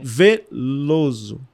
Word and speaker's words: Velloso: a vida inteira lá a pausa na pronúncia eles já sabem que é o acento não tem uma acentuação é Veloso opa ele já escreve